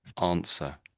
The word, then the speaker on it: answer: So this W is basically silent, I would say. So answer, answer.